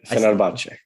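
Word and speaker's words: Fenerbahçe: Yeah, Fenerbahce.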